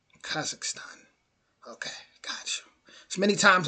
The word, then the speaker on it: Kazakhstan: So that's how you pronounce it. Kazakhstan. Kazakhstan.